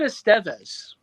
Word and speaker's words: Estevez: He pronounces it Estevez.